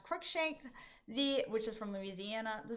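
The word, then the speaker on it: Cruikshank: United States versus Reese in Kentucky, and United States versus, I believe it's pronounced Crookshanks, which is from Louisiana.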